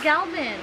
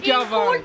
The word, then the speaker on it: Galvan: Galvan? I thought it was Galvin. Is it Galvan? It's Galvan.